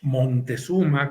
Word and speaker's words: Moctezuma: Aquí se llama la pieza Moctezuma, pero también lo encontramos como Montezuma con N, sí. y actualmente en nuestra época le decimos Moctezuma, enfatizando la C.